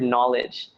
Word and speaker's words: knowledge: Why is there a K there? Anybody ever ask that question seriously? Like, what is the point of that K that happens if anyway you're going to pronounce it as knowledge?